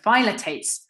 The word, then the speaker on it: phthalates: called phthalics or phthalates that's how you pronounce it phallits or phylotates sorry there we go phylotates are known to be